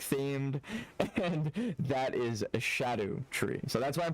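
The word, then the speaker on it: Scadutree: It's based off an old Celtic word that's pronounced like that. It's I on my first playthrough I called it the scatteru tree, but then I understood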